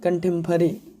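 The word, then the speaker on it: contemporary: आराम से पढ़ते हैं, कंटेम्पररी है ना, हा तो लिखा है यहाँ पर ये प्रोनाउंसिएशन में है, हा को आप साइलेंट मारिए, हल्का सा ह लाइए मुंह में, क्या, कंटेम्पररी है ना, कंटेम्पररी।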